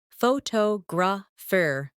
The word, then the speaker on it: photograph: Some words are pronounced with extra emphasis on one part. For example, photograph, photographer, and photographic. The stress moves and that changes the sound.